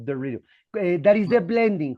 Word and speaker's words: Dorito: They pronounce Dorito. Dorito. That is the blending. When you got the letter T between vowels, they don't say Dorito, but Dorito.